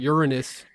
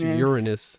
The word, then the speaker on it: Uranus: Uranus. I think it's actually pronounced Uranus. Learned this a couple of days ago. I thought it was Uranus, but that would be a little up my ass, I guess.